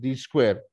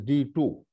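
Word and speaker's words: D²: which is you know Loosely pronounced d square is actually you should say it is D2 although the 2 appears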